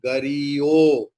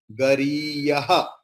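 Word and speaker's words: गरीयः: In all your book, it is written gariyo. It is also correct. But at the time of chanting, we have to pronounce it as like gariyaha. So cut the O with the pencil and put visarga.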